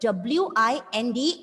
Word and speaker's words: wind: But W-I-N-D is pronounced as wind.